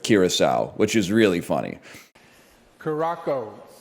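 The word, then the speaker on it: Curaçao: But then he did say Caraco instead of Curacao, which is really funny.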